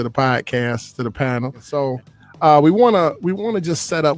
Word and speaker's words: Tso: no different than General Tso chicken. Everybody knows it's pronounced General. I know that it's pronounced General So. I know that. But I like to say General Tso.